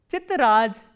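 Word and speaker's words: тетрадь: The next word we have is chitraj. Chitraj. T, ye, t, r, a, d and soft sign. Chitraj. So, as you can hear that the sound of the is softened to j.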